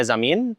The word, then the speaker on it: Zamin: Zame Zamin. Did I pronounce that correctly?